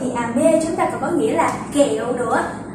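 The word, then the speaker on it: 雨: Chúng ta sử dụng trọng âm. Vì mưa rơi từ trên trời xuống, đúng không? Vì mưa rơi từ trên cao xuống, nên chúng ta đọc cao độ của âm thanh từ cao xuống thấp.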